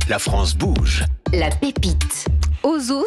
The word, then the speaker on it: Hozho: Ozo, ça s'écrit H-O-Z-H-O.